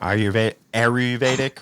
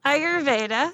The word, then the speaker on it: Ayurveda: derivative of oh my God, I'm going to pronounce this wrong. Ayurvedic, whatever it is. You know, my wife said, wow, I butchered that, but you know what I'm saying, right? Yeah. Ayurveda.